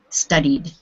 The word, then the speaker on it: studied: word two two syllables studied how many syllables is the word two two so it doesn't change and therefore it won't go in the ID column because this one gives you another syllable yeah so if it still stays two syllables then it has to be in the middle column D studied okay uh let's